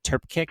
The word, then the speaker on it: Trpcic: And her name was Shauna Turpkic, I believe you pronounce it.